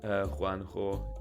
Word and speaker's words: Juanjo: It is Juanjo. Yuan is correct pronunciation for my nickname.